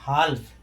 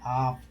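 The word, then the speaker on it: half: रहा है वैसे अगर एल का उच्चारण करें तो क्या होगा हल्फ लेकिन ये अशुद्ध है अंग्रेजी में ऐसे नहीं पढ़ेंगे इसको कैसे पढ़ेंगे हाफ क्या पढ़ेंगे इसको हाफ हाफ माने क्या होता है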